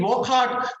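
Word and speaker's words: Wockhardt: This is indeed Wokhart.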